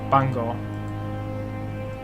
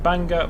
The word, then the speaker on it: Bangor: Yeah, I'm pretty sure that's pronounced Bangor, not Bangor. So Bangor, platform 2.